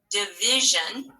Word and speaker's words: division: Let's separate the syllables. Div, I, jeune. Has to be that, right? First syllable, div. Let's spell it. You can spell it on your board. D-I-V, I. There's that I again. And then jeune. And you can just scoop it, division, right?